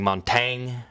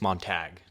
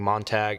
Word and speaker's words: Montag: and eat me alive I know I was saying his name wrong I was saying monang when it's monag monag my bad apologies if I'm still saying it wrong please correct me but I think it's mon tag my fault apologies moving